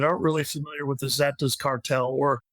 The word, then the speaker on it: Zetas: really familiar with the Zetas cartel or it's oftentimes pronounced setas or Zetas just I just briefly